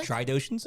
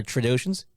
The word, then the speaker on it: Trandoshans: There's an N in there. Or Trandoshans.